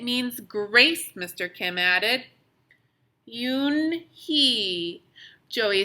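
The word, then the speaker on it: Unhei: turned to joey she nodded slowly yes it's pronounced you he and it means grace mr kim added yoon he joey said slowly time to make it perfect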